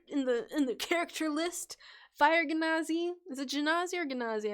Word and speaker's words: Genasi: Is it Genasi or Genasi? Another they, them! You've always said it. Is it soft G? Genasi? Genasi. Okay, that seems to be at least multiple people use the soft G, so I will use a soft G.